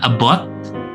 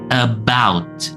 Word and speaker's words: about: Jadi bukan about atau about ya, tetapi about.